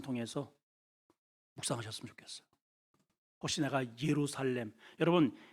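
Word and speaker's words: ירושלים: 묵상하셨으면 좋겠어요 혹시 내가 예루살렘 여러분 예루살렘이라고 하는 것은 원어적으로 보면은 예루살라임이라는 발음이에요 한번 따라합시다 예루살라임 거기에 예루라고 하는 뜻은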